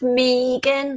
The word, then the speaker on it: Megan: It's pronounced Megan. Let's get it right.